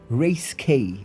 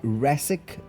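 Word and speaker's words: Racek: As I said, we then have Yakub Race K. Okay, it's actually I think it is Yakub Rasic, R A C E K, but he puts a hyphen and then a K.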